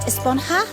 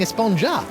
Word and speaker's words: Esponja: has been about huh actually it's pronounced esponja with an H sound at the end really but we've all been saying a sponja yes I know it's